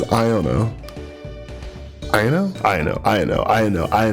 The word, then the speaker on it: Iono: of trainer Pokemon so IO iono is is Iona right sorry guys if you guys have been long time people on this channel you know I I have I mispronounce things all the time so it is iono I know I know